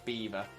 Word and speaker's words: Belvoir: But yes, we have a castle called Beaver Castle, but it is not spelt as you would expect it. Instead, it is spelt like that: Belvoir. A dyslexic person's nightmare, because you would never ever, to be fair, even someone who's not seen it before, you would never ever ever in your life guess that would be pronounced beaver.